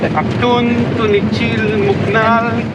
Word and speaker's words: Actun Tunichil Muknal: And how do you pronounce the cave? Actun Tunichil Muknal.